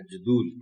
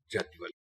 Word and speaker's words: جدول: تھا محترم ٹیچر کہ اس لفظ کو عام طور پر غلط پڑھا جاتا ہے، جدول پڑھا جاتا ہے، جبکہ اس کا صحیح تلفظ جدول۔ اب ہم آتے ہیں